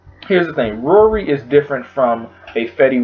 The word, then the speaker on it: Raury: Anyway, this new artist from out of Georgia, his name is Raury. It's like, it rhymes with Maury.